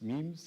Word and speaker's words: meme: i've never quite known how to pronounce it memes or mimes memes is that right yes it's like the idea